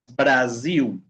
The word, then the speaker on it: Brasil: Cuando la s, chicos, está en medio de dos vocales, ¿okay? Dos vocales, va a ser un sonido como de abeja. Z. Okay. Por ejemplo, casa. Okay. Casa. Brasil.